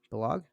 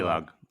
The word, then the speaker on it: Balog: Balog? Is that how you say it? Balog. Baylog. I knew it again. I knew it. I always know when I'm saying I'm wrong.